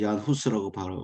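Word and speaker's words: Jan Hus: 우리는 보통 얀 후스라고 발음하는데요. 존은 아시다시피 요한, 예, 존으로 보통 쓰는데 체코어로는 얀이라고 발음하는 모양입니다.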